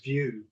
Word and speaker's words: VYOO: And the company spelling, or the spelling of the company name, VYOO, but pronounced, I believe, is pronounced as View.